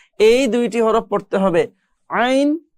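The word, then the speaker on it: ع: একদম মাঝখান দিয়ে যদি আপনি একটু চাপ দিয়ে পড়ার চেষ্টা করেন, তাহলে এই দুইটি হরফ পড়তে পারবেন, আইন হা। মাঝখানের কণ্ঠনালীর মাঝখান থেকে যদি একটু চাপ দিয়ে চেষ্টা করলে কিন্তু এই দুইটা হরফ সুন্দরভাবে উচ্চারণ করা যায়।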